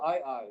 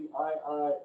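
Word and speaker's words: aye-aye: omen to that effect called the ii it's spelled aye twice they're they kind of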